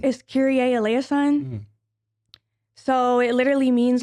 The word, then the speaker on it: Kyrie: It's spelled just like Kyrie Irving. It is Kyrie.